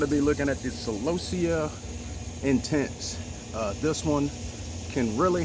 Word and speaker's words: Celosia: Well, people pronounce it different. Celosia, Celosia, Celosia. What I just call it the Celosia.